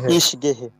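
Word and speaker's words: ich gehe: স্পেসটা কেটে দিচ্ছি তাহলে হচ্ছে আমি যাই এটার উচ্চারণ কি হচ্ছে কেউ একজন বলেন তো ইস হবে ইস গেহে ইস গেহে তুমি যাও ডু গেস্ট ডু গেস্ট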